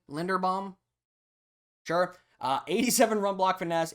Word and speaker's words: Linderbaum: Then we have Tyler Linderbaum. I believe that's how you pronounce his name. Linderbaum.